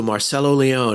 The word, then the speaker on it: Marcello Leone: up in canada a let's say hello to marcelo leone hello marcelo how are you guys nice to